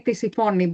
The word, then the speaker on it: Tisiphone: I would say in Greek, I would say Tisiphone, but it is Tisiphone.